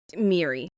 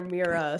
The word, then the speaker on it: Miri: queer gothic novel about, I call her Mary, but you call her something else. Miri? Miri. We can call her Miri. I think that's how it's said in the book.